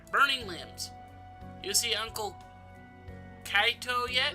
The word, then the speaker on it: Kaito: Kaito, okay.